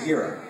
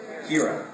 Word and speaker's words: Hera: Like Hera's name.